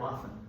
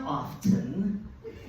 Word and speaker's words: often: is an oftener it's somebody who pronounces the letter T in the word often yeah it's not often it's often we're not in England it's not like hey